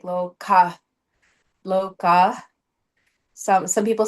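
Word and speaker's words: Lokah: And so how you say it is that loca the is kind of like a breath like loca loca.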